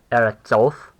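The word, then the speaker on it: ארצות: And if we were to pluralize it, would be eretzoth. Yeah, of course the syllable stress would change over to oth. It would be eretzoth.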